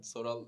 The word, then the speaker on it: Soral: Soral like asking and then...